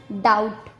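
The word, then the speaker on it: doubt: बी का second rule है, जब टी से पहले बी आता है तब भी बी का उच्चारण नहीं किया जाता। जैसे डेट, डाउट, सटल।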